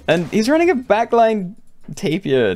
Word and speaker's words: tapir: And he's running a backline Tapir. Tapir. I actually googled that, and apparently people say it like taper. And that really doesn't sound right to me.